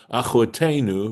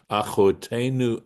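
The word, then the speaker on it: אחותנו: Either way, it's still pronounced achotenu, right? Even though achotenu without the yud is our sister, and achotenu with the yud's pronounced exactly the same way, as far as I know, right?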